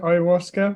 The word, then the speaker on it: ayahuasca: How do you pronounce it? Ayahuasca.